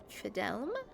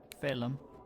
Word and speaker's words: Phelim: Fidelum? Phelim. Phelim. There's a D. Why are we not pronouncing the letters?